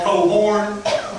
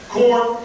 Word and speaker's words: Cohron: I've been called Cohron. I've been Cohron. Corn. And for those of you who don't know and thought I just said it right, no, there are 2 syllables. It's not corn.